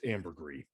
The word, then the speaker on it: ambergris: it's pronounced ambergris.